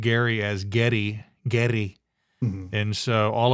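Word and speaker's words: Geddy: to Canada after the war and his mom pronounced Gary as Getty gy MH and so all of his friends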